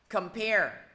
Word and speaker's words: compare: Compare, nhấn vô thứ hai.